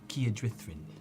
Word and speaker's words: Kierdrithrin: Kierdrithrin. 3 syllables, please.